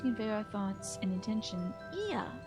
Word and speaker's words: Ea: When the vibration of the vocal folds was still required to convey our thoughts and intention, Ia, I believe, was a pronunciation used when referring to our people.